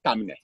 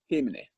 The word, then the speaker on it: Temne: Well, the danger in that is that if you say THAMNE, you can end up for say tamne. Yeah. You can end up for say tamne. If you just say THAMNE, I mean, anybody can pronounce it anyway. Yes. But when you put THEI, it's difficult for like any other way other than Temne.